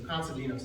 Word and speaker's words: Konstantinos: The Greeks pronounce the T's like these, so Konstantinos, I have to remind myself that.